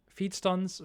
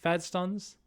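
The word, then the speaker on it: Feedstuns: It is feed stuns, not fed. It's feed.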